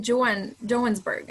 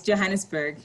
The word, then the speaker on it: Johannesburg: sorry you're in in joanne jonesburg i'm not sure i'm saying it correctly yes yes johannesburg johannesburg okay south africa and you're